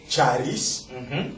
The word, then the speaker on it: Charis: Oui, le centre Charis. Ah voilà, c'est la prononciation exacte.